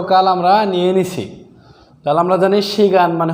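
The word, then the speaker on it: 내년: হিউতের এখানে নিয়ে আপনাকে উচ্চারণ করতে হবে সঠিক উচ্চারণ হবে উরে এই বছর জাং নিয়ন গত বছর আমরা জানি গিয়ক বাচ্চিমের পরে নিয়ন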